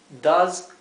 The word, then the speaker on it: does: verdad o sea que does not paso para tanto fíjense que la s se pronuncia no es la s como del español es una s como un como si fuera una abeja zumbando does not what does